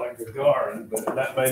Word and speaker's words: Gagarin: It's a Soviet cosmonaut, and I want to, I call it Gagarin, but that may not be the correct pronunciation. How do you pronounce that last name? Yuri Gagarin. Gagarin.